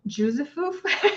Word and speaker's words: Józefów: It's called Józefów. It's spelled really weirdly.